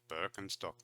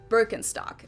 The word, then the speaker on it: Birkenstock: their native accent so English speakers usually say Birkenstock in German we say Birkenstock Birkenstock Birkenstock which literally translates to